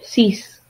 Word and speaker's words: six: It's spelled the same, said different. Six.